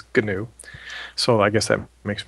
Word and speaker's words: GNU: uh pretty much to a Linux geek he's going to correct you and say it's G new so I guess that